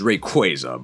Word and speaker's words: Rayquaza: I believe the correct pronunciation is Rayquaza, but nobody says that. Are are we talking about like the Rayquaza from the Hoen region?